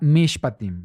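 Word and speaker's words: משפטים: eh Tenemos aquí que la porción se llama mishpatim Sí así es como se pronuncia fonéticamente Así es como se escribe en hebreo y tenemos mish patim Esta es la manera en la que se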